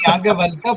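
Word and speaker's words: Yajnavalkya: I'm feeling some pressure to try to pronounce these things correctly in front of this audience. It's Yagyavalkya, but okay, it doesn't matter.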